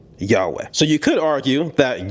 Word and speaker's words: Yahweh: When it comes to accuracy, most historians, most ancient Hebrew scholars would agree that the more correct pronunciation would be Yahweh.